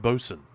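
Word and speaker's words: boatswain: Isn't Bosen spelled boat swain? You know, I'm pretty sure it's not spelled like that, isn't it? Boat Swain, but it's just pronounced Bosen.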